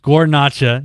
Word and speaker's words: Guarnaccia: his last name is hard to spell it's pronounced guar i said gornacha g-u-a-r-n-a-c-c if you happen to listen to us